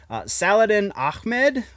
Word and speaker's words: Saladin Ahmed: It seems that writer, I'm really sorry for mispronouncing this name ahead of time, Saladin Ahmed, I believe is how you would say that. The guy who's writing Miles